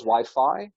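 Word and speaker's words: YFI: but when i originally built it it was wi-fi um but but community decided it's wi-fi so now it's wi-fi yes i looked at the interview and they're like oh it's wipey wiping so okay why be token could you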